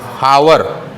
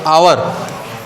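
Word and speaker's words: hour: जाते हैं बहुत लोग इसका प्रोनंसिएशन क्या करते हैं हावर ये गलत है हावर नहीं होता ए इसमें क्या है साइलेंट है यहां पे क्या होगा आवर क्या है आवर अब वावेल साउंड हमको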